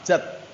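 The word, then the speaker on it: جدّ: Mau pergi ke rumahnya jid, salah. Jad.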